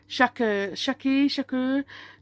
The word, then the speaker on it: Shakur: How do you pronounce his name? What's his name? Shakur.